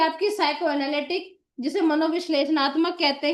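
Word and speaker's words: psychoanalytic: फिर आती है आपकी साइको एनालिटिक। इसमें पी साइलेंट रहता है बेटा।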